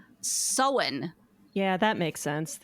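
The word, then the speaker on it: Samhain: it would be pronounced Sam ha is s m ha a i n but it is pronounced SE yeah that makes sense just throw throw out most of the middle letters there I had to look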